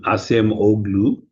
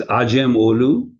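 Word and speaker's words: Acemoğlu: be pronounced aim olu where the C in Turkish is a J, but most people mistakenly call him Amam Olu. So it's Ajam Olu.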